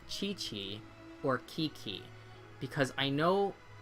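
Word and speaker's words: Qiqi: Yeah, I I see it pronounced Chi-Chi. I do think in Chinese it is chi. So, I think qi is chi.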